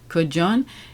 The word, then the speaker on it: Kodjoe: How do you pronounce it? Kodjoe.